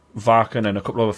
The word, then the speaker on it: Wacken: But oh, you called it Varken? Varken because I'm a metal elitist and that's what the locals call it. But yeah, I've done Wacken.